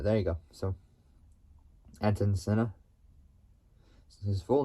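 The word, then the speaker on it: Ayrton Senna: say it like properly want to try so Anon Center there you go so Anon Center his full name is etan Sil etan Sena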